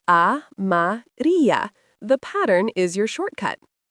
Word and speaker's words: amarilla: La flor amarilla, pronounced amarilla.